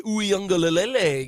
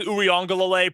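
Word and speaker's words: Uiagalelei: I just said it right easily. You did not, but that's okay. You added an extra "l" in there, but that's all right.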